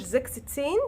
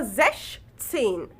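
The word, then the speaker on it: sechzehn: وبنطن وبننطقهاش سين طيب عرفت التركايه اللي في ال 16 ان انا بشيل منها الاسم وما بنطقهاش زكستين كده بنطقها زشتين زش سين طيب ال 17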